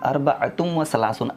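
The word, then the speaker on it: أربعة وثلاثون: अरबतुम व सलासून, अरबअतुम व सलासून। अरबअ ऐन है, थोड़ा मखरज के साथ पढ़िएगा इसको, अरबअतुम व सलासून।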